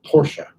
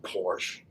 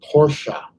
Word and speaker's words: Porsche: huge huge fan of porsche and it is pronounced porsche people say porsche need to be flogged it's porsche i've been a big fan of porsche since